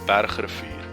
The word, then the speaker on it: Bergrivier: I'm going to pronounce it in my native language, Afrikaans. It's the Kromrivier and the Bergrivier, which is basically the mountain river and the Crooked River.